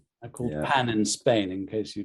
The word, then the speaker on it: pain: Well, it's pronounced pan.